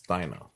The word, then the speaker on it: Dinah: Someone's in the kitchen with Dinah. It's Dinah. Dina. Say Dina. That's how you say it in Romanian, but it's Dinah.